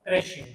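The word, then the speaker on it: crèche: और इसके लिए बेहतरीन सा शब्द आपको बता रहा हूँ, क्रैश, जिसको क्रैश भी बोल सकते हैं, क्रैश भी बोल सकते हैं। क्रैश और क्रैश दोनों उच्चारण कर सकते हैं आप इसके।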